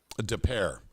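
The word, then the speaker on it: Des Peres: St Louis suburb de de Paris I I don't know how to pronounce that uh well not go ahead depair okay gotcha it sounds very French French okay uh he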